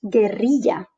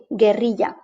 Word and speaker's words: guerrilla: But if we apply the alphabet rules in Spanish, we will see that the word is pronounced guerrilla. G-U-E, guerrilla.